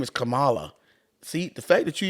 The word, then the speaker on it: Kamala: nothing else to talk about her name is Camala see the fact that you even called her